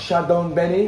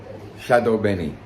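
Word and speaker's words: chadon beni: got to find to cook our food it's pronounced chadon Benny or Shadow Benny so there you go this is like a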